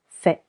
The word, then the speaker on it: fais: Je fais with letter S. Silent S.